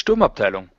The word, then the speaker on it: Sturmabteilung: Yeah, it's Sturmabteilung.